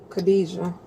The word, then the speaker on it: Kadesia: And you went by Kajia as well. Kadesia. That's That's how you pronounce my name, Kada.